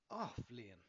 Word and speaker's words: Athbhliain: The first word is Athbhliain, pronounced "ah" and "vleen" - "ah-vleen" The second word is